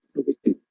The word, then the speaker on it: Novecento: Ustedes después lo pueden buscar, buscan Bernardo Bertolucci, la película se llama Novecento, así se escribe, se pronuncia Novecento.